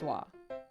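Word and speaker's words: は: written as a wall it's actually written as ha but it's pronounced wah i know confusing right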